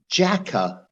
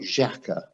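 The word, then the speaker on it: Xhaka: been practicing thomas party granite it's jacka apparently not jacka we've been we've been saying it wrong for ages but uh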